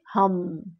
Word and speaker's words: হাম: করে 21 ডেজ আপনি হাম মন্ত্রকে উচ্চারণ করুন। চোখ বন্ধ করুন। হাম হাম এইভাবে আপনি এক নাগারে জপ করুন। এই হাম মন্ত্র। যখন আপনি মন্ত্র জপ করবেন তখন দাঁত বন্ধ থাকবে এবং যে ময়ের উচ্চারণটা